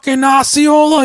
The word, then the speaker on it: Osceola: to it and he's it's osceola you in Jesus Christ stop